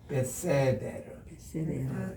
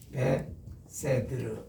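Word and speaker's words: בסדר: 이렇게 하는 것은 베세드라고 발음을 해요. 베세데르 이렇게 베세드르 이렇게 하는데 이 베세드도 베세데르 이런 말입니다.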